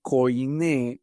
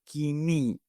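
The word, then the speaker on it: κοινή: Antes ellos expandieron una versión del griego, en griego antiguo se llamaba koiné, hoy se pronuncia kini en la pronunciación moderna.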